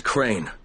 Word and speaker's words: Crane: no my name is crane crane crane rhymes with train and brain and sane and grey and nice and plain and kind of it's